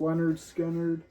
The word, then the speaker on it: Lynyrd Skynyrd: But Lynyrd Skynyrd, pronounced Leonard Skynyrd.